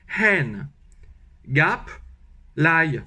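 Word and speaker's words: hẹn gặp lại: je fais d'abord je je prends le mot n sauf que je j'expire le h on dit un h aspiré mais pour faire un h aspiré en fait en fait il faut expirer de la haine voilà de la haine donc ha gap l'ail comme de l'ail mais il faut mettre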